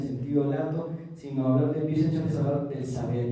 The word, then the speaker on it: Wissenschaft: Y la otra es esta palabra en alemán que significa, se pronuncia Wissenschaft, que es algo así como saber o ciencia en el sentido mayúsculo de la palabra, en el sentido fuerte de la palabra.